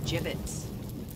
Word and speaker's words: gibbets: here dead end hey look ay had some gibbets left over jbits what it's pronounced jbits are you sure yeah well no one likes